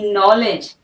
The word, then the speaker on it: knowledge: KNOWLEDGE, नॉलेज, नॉलेज, नो। ठीक है, के साइलेंट, नॉलेज।